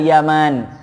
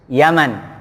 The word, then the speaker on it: Yaman: orang tuanya namanya Al Yaman kalau nama negara bahasa Arabnya nggak ada panjangnya itu Yaman itu bacanya langsung ya tapi kalau ini Yaman ada alifnya Makanya bacanya beda ini susahnya memang termasuk